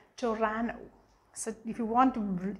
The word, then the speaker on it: Toronto: pronounce it as toronto it's not toronto it's torano the locals pronounce it as torano so if you want